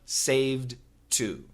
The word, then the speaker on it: saved to: And the same thing with saved to. Saved to. Saved to. Don't worry about the D. You can use the T only.